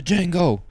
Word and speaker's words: Django: The Django. D is silent, hillbilly. Like that was fire.